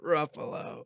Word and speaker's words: Ruffalo: Green animals that rhyme with my last name. Buffalo. Ruffalo. Ruffalo.